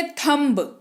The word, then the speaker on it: thumb: है लिखा हुआ है तो इसको स्पेलिंग के हिसाब से थंब्स लेकिन हम नहीं तोडेंगे क्योंकि हम लोग यहां पर इसे हम पढेंगे तो तो इसका उच्चारण थंब होता ना तो सिंपल सी बात है बी को भूल जाइए भी यही नहीं यहां